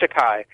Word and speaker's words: Takei: George Takei. Pronounced Takei.